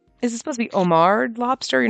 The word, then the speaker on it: homard: trap or whatever is it supposed to be Omar Lobster you're not supposed to pronounce the a H because like Omar Holdings